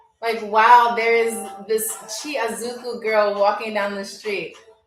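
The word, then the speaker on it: tsy azoko: Chiazuku is T as in toy, SY, so TSY. Yeah, thank you. T as in Timothy, T as in, okay. So TSY space AZOKO. TSY space AZOKO for y'all who don't know.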